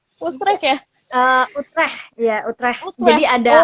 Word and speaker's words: Utrecht: Gimana sih bacanya? Utrecht ya?